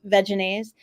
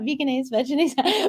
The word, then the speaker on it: Vegenaise: primarily I think dressings these days but like Vegenaise which that's how it's pronounced not veganisms but anyway they have products that I I